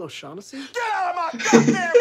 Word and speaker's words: O'Shaughnessy: I'm sure that's not how you say it. Who? Oshag Hennessy! Principal O'Shaughnessy?